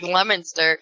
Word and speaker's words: Leominster: I mean, Massachusetts is horrible for that because you got Worcester, and it's WORCESTER. But it's pronounced Worcester, just like Leominster is LEOMINSTER.